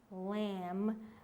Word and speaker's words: lamb: right and wrong then one more is be at the end of the word for example climb lamb in the great race the